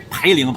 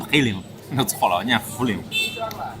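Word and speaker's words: 涪陵: the Yacai in Yibin Some people always mispronounce of Fuling as Peiling Fuling In fact, noodle and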